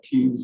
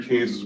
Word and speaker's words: Keynes: keynes's major work of the time and it's pronounced kings not keens the way it looks like keynes um and it was sort of the mainstay today the modern-day economists who adhere to kane's work who tend to be called neo-keynesians also